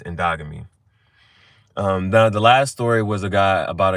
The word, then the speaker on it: endogamy: But But the way this is spelled, it Ndogamy. So I keep wanting to say but it's endogamy.